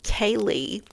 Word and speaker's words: Ceilidh: Molly mentioned a Kaylee after the grouse hunt, and that is spelled Ceilidh.